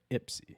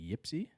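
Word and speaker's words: Ypsi: too and Ipsy I I was told I pronounced that wrong too Andy set me straight pretty quick so Ipsy how' you say it first I think wasn't Bryce wasn't Ty saying yipsy don't don't say that I used to do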